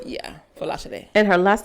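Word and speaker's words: Folasade: It's like, it's Falashade. Because actually, that's all her middle name? Yeah, Falashade.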